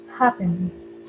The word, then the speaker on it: happen: Ajá, al inicio, ¿verdad? En la primera sílaba.